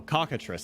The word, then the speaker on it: cockatrice: Oh, cockatrice.